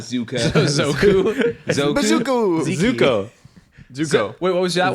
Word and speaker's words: Zuko: really good really really good show I always mispronounce it zuku zuka z z no it's not zuka zoku zuk Zuko Zuko wait what was that one zuka zuka